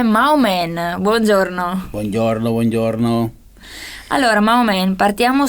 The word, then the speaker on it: Mahoman: Poi ho aggiunto una N alla fine e si scrive Mahoman, però lo pronuncio Maomen.